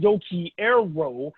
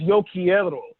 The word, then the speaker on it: Yo quiero: need to learn that in Spanish, we don't pronounce the R's, we roll our R's. So it's not Yo Quiero, it's Yo Quiero.